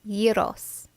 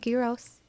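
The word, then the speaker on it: gyros: what Garros is and by the way it's euros not gross I've been pronouncing it wrong my whole entire life and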